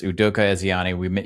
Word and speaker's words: Udoka Ezeani: You're going to have to pronounce this for me because I butchered it. Udoka Ezeani. Yes, Udoka Ezeani.